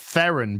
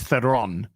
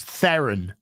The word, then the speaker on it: Theron: uh with Charlie's Theron pronounced Theon by the way not Charlie's Theon it's theen that's straight from charlies's mouth not that I want